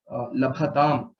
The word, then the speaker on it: लभेताम्: So please ensure that when you say labhatam, bhakara is the Mahaprana and not takara.